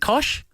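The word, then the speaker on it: Koch: uh Sunrise co-host David kosi Kosh is it Kosh oh yes or as David Dave O'Neal calls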